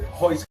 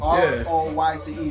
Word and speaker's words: Royce: His name is Hoist. It's spelled Royce, R-O-Y-C-E, but Brazilians don't pronounce the R's.